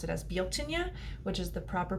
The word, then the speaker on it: Bealtaine: me pronounce it as Bo Tanya which is the proper pronunciation it looks like Beltane when you see it in the English language but guilt Ania is the proper pronunciation